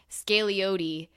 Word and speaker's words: Scagliotti: And she says, the G is silent, the O is long, Scagliotti, which is not how